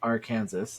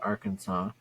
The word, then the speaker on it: Arkansas: weird apparently in 1881 a heated disagreement between the state's two senators one who said AR Kansas and the other who said Arkansas led to a ruling by the state legislature making the Arkansas pronunciation official wow yeah this is